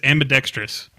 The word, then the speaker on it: ambidextrous: But the one that drives me nuts is ambidextrous. Ambidextrous is spelled AMBIDEXTROUS, but so many people say ambidextrous. They throw an I in there.